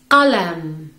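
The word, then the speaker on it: قلم: Qalam.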